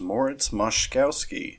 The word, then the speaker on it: Moszkowski: This is, as promised, Aaron from the future while editing, and it turns out that the proper pronunciation of this composer is Moritz Moszkowski, and specifically the piece that